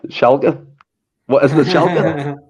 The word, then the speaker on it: Schalke: What isn't it, Schalke? Because when I first pronounced it, I said, what was it I said first of all? Shackle, shambles.